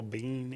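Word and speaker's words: Biehn: Michael Bean you knew Michael Bean is say it regular maybe I'll know it don't put something no it's b-i-e-h-n I do not no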